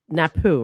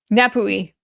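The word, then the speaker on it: Napue: Well, and do you guys call it because I know an uh Miss Birkhard, you call it Napoo, right? Napoui.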